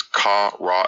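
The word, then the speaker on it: קרא: The triconsonantal root is ka, ra, and a, pronounced kar, which means to call.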